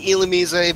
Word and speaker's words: Illumise: I'm using Illumise because that's how the anime pronounced it, and that's how I've known it for years.